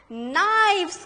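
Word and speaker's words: knives: नाइव्स, देखो spelling देखो, के साइलेंट है नहीं, नाइव्स पढ़ना इसको, के साइलेंट, यहां पर यहाँ एफ की आवाज आती है, एफ की आवाज, यहाँ पर वी, we, weaves, नाइव्स, एन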